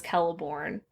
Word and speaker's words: Celeborn: celeborn in my head I always say celeborn but on the audiobook he says kelleborn but I like celebrian better than Calabria so I will continue with my Soft C but yes yeah so